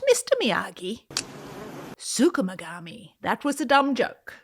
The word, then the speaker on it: Tsukumogami: It was inspired by the Japanese folklore of tsukumogami. No. Hey, what kind of belt do you have? Canvas. Not Mr. Miyagi. Tsukumogami.